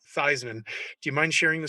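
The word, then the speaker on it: Theismann: i understand it you convinced not only joe thiesman to pronounce his name theisman uh but even his family to this day pronounces it theisman do you mind sharing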